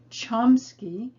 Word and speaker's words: Chomsky: time and interestingly enough he changed the pronunciation of his family name from kamsky to chomsky because when he entered public high school they sat him in the middle of the room with the students whose names began with k because they didn't recognize that his name actually began with c so when he changed it to the english pronunciation chomsky they moved him up